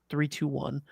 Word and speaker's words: 321: So this is the name of the new company, and that's the 30 it's 321. That's how it's pronounced.